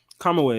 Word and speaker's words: Kamui: Kamui, that's how you say it.